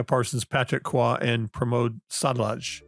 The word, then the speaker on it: Sadalage: Is Building Evolutionary Architectures, Automated Software Governance by Neal Ford, Rebecca Parsons, Patrick Kwa, and Pramod Sadalage. Am I saying his last name correctly? Sadalage. Pramod Sadalage. Yep.